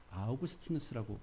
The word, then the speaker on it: 아우구스티누스: 원래 헬라식 발음으로 하면 아우구스티누스라고 발음합니다.